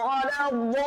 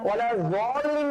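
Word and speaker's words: وَلَا الضَّالِّينَ: আমরা দেখিয়েছিলাম যে আমরা সূরা ফাতিহার শেষে যে উচ্চারণটা আছে, গায়রিল মাগদুবি আলাইহিম, গায়রিল মাগদুবি আলাইহিম ওয়ালাদ-দাল্লিন, এখানে কিন্তু দদের ব্যবহার আছে। তো দদটা কিন্তু মাগজুবি বলা যাবে না, মাগজুবি বলা যাবে না, ওয়ালা যালিন বলা যাবে না।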